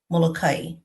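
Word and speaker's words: Molokaʻi: So some of the locals actually pronounce their island Mokai.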